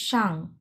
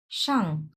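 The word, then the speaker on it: 上: বা টেবল তারপরে আছে সাং এটা চার নাম্বার টন হবে এটা এখানে ভুল দেওয়া আছে এটা চার নাম্বার টন হবে সাং মানে উপরে আপ উপরে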